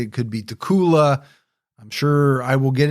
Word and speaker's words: Dacula: I think it's Dacula. Like uh Dracula without the R?